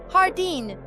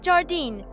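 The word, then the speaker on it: jardín: J sounds like a strong English H jardine. Hardin, not jardine.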